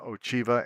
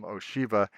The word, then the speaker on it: Ochiva: There's somebody named Ochiva in the game, and nobody knows how to pronounce the CH. So some people call them Ochiva and some call them Oshiva.